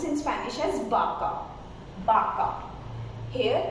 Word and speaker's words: vaca: So in Spanish, though it's we mentioned as V, but we reduce the sound of B. So it's vaca and it's vino. So we produce B sound.